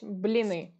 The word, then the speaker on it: blini: Mon Google told ya I'm a Googler it's blini yah which blini perfect what other hobbies do